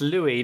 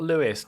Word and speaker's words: Louis: It's Louis, not Lewis.